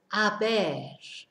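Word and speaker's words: haber: so this verb is a bear and it's spelt H a b e so it looks like it should be habit but of course we don't pronounce it h so it's a bear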